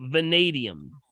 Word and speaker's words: vanadium: magnesium chromium and the last one is called vanadium that's spelled v-a v as in Victor a n